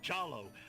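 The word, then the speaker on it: Jollo: My name is Jallo. Rhymes with Jello.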